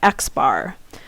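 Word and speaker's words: x̄: bar on top and we actually pronounce that xar so xar is where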